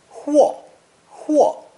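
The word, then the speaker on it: 货: that show money can be converted to it's pronounced fourth throne hua this new ideogram plus song produces the expression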